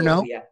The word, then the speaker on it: Ngo: NG, I don't know how to pronounce his last name, NGO. That's the spelling. No, Dr. No. Dr. No, yeah.